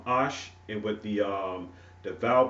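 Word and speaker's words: אש: And we know that the word fire is pronounced ash, and with the the vowel points and things of that sort, through grammatical purposes with the call stem and everything like that. It's pronounced also ish, and ish means man, ash means man, ash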